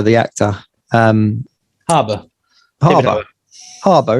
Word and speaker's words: Harbour: actor um harbour harbour harbor isn't it it's it's harbor not arbor it's just david i